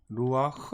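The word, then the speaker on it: רוּחַ: 문제가 되는 단어는 바로 이 루아흐 입니다 루어 이루어 루와 크 라고 읽어요 이루 아크를 어떻게 번역할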